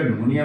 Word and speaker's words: pneumonia: याद रखिएगा निमोनिया में पी साइलेंट है।